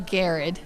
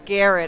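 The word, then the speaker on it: Garrard: It's actually Garrett. Garrett. I've driven by, seen the county signs, and I don't know that I've ever heard anybody tell me. It is Garrett County.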